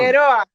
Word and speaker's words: Figueroa: Is that how you say it? Or do you have to roll the tongue? Figueroa.